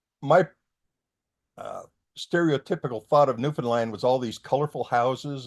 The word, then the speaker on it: Newfoundland: Well, first I asked him, how do you say the name of this place? Because you can hear it Newfoundland, Newfoundland, new this, on and on and on. And he says, it's Newfoundland. And I can't say it